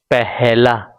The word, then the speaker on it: પહેલા: If you see, when I am speaking I am adding h, પહેલા.